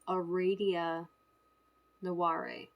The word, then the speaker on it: Aradia Naware: call me, because the way you pronounce my name is Aradia Naware. Now, nobody can get the second name right, okay? But incidentally, they both have the sound in them.